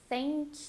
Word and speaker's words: thank: you're going to do the unvoiced th tongue between your teeth very soft air flow thank you and really